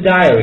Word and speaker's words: diary: 一个是 dairy，一个是 diary，发音都有很大的差别。